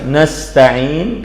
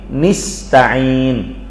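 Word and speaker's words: نستعين: Kita baca saja nasta'in, kata beliau membacanya dengan memberikan harakat fathah pada huruf nun. Nasta'in, ya, nasta'in. Ada bacaan lain nista'in, pakai harakat kasrah. Nista'in, ini bacaan Yahya ibn Wathan, Sulaiman bin Mihran al-A'mash, seorang tabi'i.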